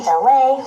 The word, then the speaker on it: LA: It's me, LA, pronounced like LA like the city.